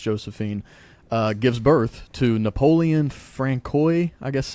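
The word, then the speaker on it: François: Is it Francois? Yeah. Francois? Well, it's not Francis because it's got the O in there, so I didn't know if it's Francois. Francois. Yeah. I would say Francois.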